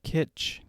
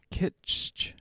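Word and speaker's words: Kitsch: of actors one of my favorites is taylor kitch kitch i'm not sure you pronounce it but spelled k-i-t-s-c-h or something like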